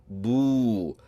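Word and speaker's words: بُو: When you attach the ba letter to this oo or the waw letter, you pronounce this combination as boo.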